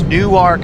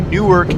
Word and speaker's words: Newark: you pronounce it so if I say new arc it means Delaware and if I say Newark it means New Jersey don't get that wrong